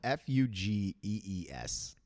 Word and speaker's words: Fugees: It's Fougies? No, Fugees.